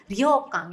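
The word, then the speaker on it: 旅館: Ini dibacanya adalah nomor 3 minasang, yaitu ryokan ya, artinya penginapan khas Jepang.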